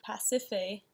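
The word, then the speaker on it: Pasiphaë: gonna do he's so he curses amino-acids wife past if a Mississippi it's how you say her name he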